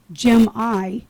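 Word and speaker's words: Jimi: that I was telling you about, his name, he actually pronounces his name Jim-I, J-I-M-I, and his Jimmy. last name is I, E-Y-E.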